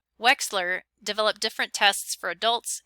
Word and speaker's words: Wechsler: those developed by david wechsler that ch is pronounced like an x wechsler developed different tests for